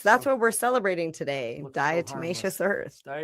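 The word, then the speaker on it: diatomaceous earth: Dietmacious Earth. Dietimmacous Earth.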